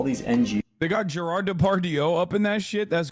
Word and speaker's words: Depardieu: I said Depardieu. That was a very Turkish moment. Gerard Depardieu is how you say it in Turkish.